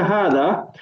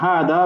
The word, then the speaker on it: هذا: you can see the hada. There's only 3 letters here. However, we don't say hada, we say hada. This is an example where an alif is not written, however, it is pronounced.